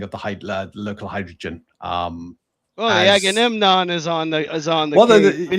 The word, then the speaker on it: Agamemnon: Yeah, the Nomenon. The Agamemnon. Agamemnon.